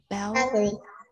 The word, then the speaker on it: balcony: This is balcony. Balcony. All right. Chữ C này con đọc là chữ K.